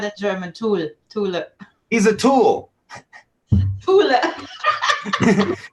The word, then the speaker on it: Thule: How do you say that? I say Tool. Because I always called it the Thule, but now I know you're not supposed to use H's in anything.